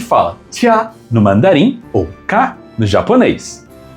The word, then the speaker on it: 嫁: Se fala tia no mandarim ou ka no japonês.